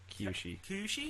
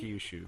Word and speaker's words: Kyushu: he's moved to with his relatives in uh Kushi. Kyushu, sorry. Kushu, you watched the dub, so you know how to pronounce these.